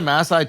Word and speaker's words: Maasai: pronounced Maasai.